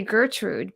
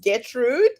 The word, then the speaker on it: Getrude: I want to say Gertrude but there's no r yeah so my name is pronounced getrude just the way it's written it's okay without the r and there's a long